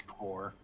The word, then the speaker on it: corps: need nationalism civic for corpse thank you or coors i never know how to say the plural it's core it's core i know that i